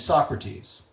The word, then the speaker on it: Socrates: us about this guy in ancient Greece named Socrates that's how you pronounce his name I'm not even going to